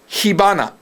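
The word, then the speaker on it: 火花: Hana, though, is how you say flower. But when you combine it, it becomes hibana.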